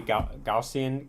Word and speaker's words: Gaussian: Um we're inside of the weekly gaussian Gaussian channel. That's actually how you say it.